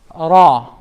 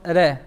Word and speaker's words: Ra: This is pronounced with a full mouth. Ra instead of Re.